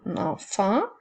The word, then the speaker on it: enfant: regarde les mots ensemble on avait un enfant j'espère que tu n'as pas oublié la lettre muette vendredis une dent encore